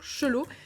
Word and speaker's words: Chalot: si c'est mieux donc le Chalot qu'on prononce donc chelou il nous reste à